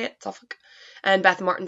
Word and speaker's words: Suffolk: suffolk uk suffolk is how you say it suffolk and beth martin says hi and beth was